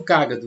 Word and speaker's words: cágado: sabe que é um cágado né sabemos que a palavra cágado é uma proparoxítona não é para você que não lembra o que é uma proparoxítona é quando a antepenúltima sílaba é acentuada né e na regra